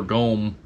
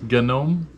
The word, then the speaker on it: gnome: isn't she cute gnome or gome it's a no look at the gomer look at her little feet gnome it's a gnome he's saying it wrong because no i'm just